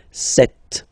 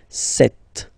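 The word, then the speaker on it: sept: Then here, remember, P is not pronounced. Okay, it doesn't exist, so you got this set sound. Set. Set.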